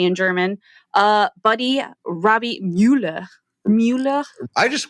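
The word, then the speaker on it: Müller: Well, yeah, it looks like Mueller, but the U does have an umlaut. So it'd be Mueller.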